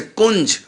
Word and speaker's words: कुंज: अब इसका अर्थ या हो जाएगा, जैसे कुंज, कू के ऊपर बिंदी, अब ये कुंग नहीं होगा। जैसे गंगा में अंगा हो गया, अब का के ऊपर बिंदी अंगा नहीं होगी, ये क्या हो गया, कुंज, तो या हो गया।